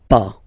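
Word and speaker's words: pas: verb and after that pa okay we write it p s okay but as usual final s is not pronounced so it's okay remember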